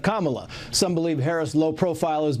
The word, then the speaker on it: Kamala: her boss the president continues to mispronounce her name calling her camela instead of Kamala some believe Harris lowprofile